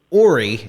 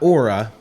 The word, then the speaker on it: Ora: of my ear, that how your name is actually pronounced Ori and not Ora. And I was just wondering